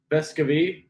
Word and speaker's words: Vescovi: either and back home he said it was bescavi like it was like you emphasize the e in the annunciation but